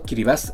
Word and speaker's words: Kiribati: Sí, pronunciado Kiribati, es el primer país en ver la luz del día y también uno de los menos visitados en el mundo.